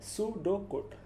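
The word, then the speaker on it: pseudocode: পিটা silent, সুডোকোড।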